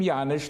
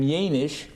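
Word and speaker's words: Jaenisch: The Russians pronounced his name Janisch. The Germans pronounced his name Janisch.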